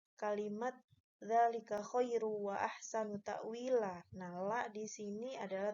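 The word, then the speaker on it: تأويلا: Di sini ada mad asli pada kalimat wi, Ya, dzalika khairu wa ahsanu ta'wila. Ta'wila cara bacanya bukan takwil. Asal katanya takwilan. Karena hukumnya adalah mad iwad, mengganti yang tadinya eh, tanwin fathatain menjadi satu harokatnya, bukan tanwin tapi takwila fathah.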